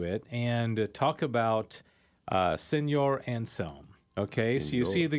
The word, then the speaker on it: Anselm: I always say his name wrong. I say how do you say Anselm. it? Anselm. St. Yeah, Anselm.